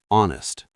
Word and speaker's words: honest: Some H words are silent, like hour, honest, honor, heir.